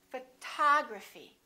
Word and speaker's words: photography: We stress the second syllable. We say photography.